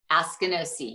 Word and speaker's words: Askinosie: Askinosie, is that pronounced correctly? Askinosie, yes.